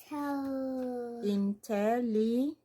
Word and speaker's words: intelligent: Oh, that's a soft G sound. Intelligent. Gent. J. Intelligent. Not gent.